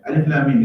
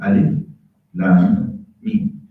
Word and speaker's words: Alif Lam Mim: So Alif Lam Mim is 3 letters. You don't turn them in, you don't read them as a word. You pronounce the letters themselves. Alif Lam Mim.